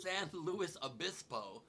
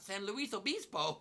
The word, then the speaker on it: San Luis Obispo: of all it's pronounced san luis obispo not san luis obispo i only didn't correct you because technically in spanish it's a spanish name luis is luis and not lewis like we say it but colloquially you're wrong